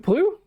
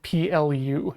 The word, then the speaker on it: Ple: Sorry, it's spelled P-L-E and said P-L-U.